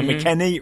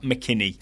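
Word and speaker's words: McKennie: it was Western McKenney so McKenney rhymes with penny not McKinney have we heard him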